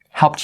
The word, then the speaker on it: helped: In fact, I don't think I really helped you. Guys, here. Helped you. Helped you. Right? Why? Because the ed part here is a T sound, the way it's pronounced.